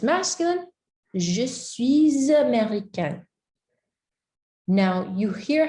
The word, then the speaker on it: américain: So if it's masculine, you'd say, je suis américain. Américain. We don't pronounce that ending, right?